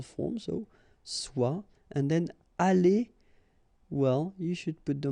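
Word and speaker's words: allées: The good thing, as usual in French, is you will pronounce it aller, aller, aller, and aller. So technically you don't pronounce the final e, you don't pronounce the final s, and you don't pronounce the final es. But still, you should write them.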